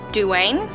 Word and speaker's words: Duane: So You Want to Be a Wizard by Diane Duane, I think is how you pronounce that.